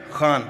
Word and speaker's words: Khan: Khan am I saying it right? Khan from the epiglotus.